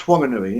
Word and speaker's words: Whanganui: Yeah, pronounced Whanganui, yeah.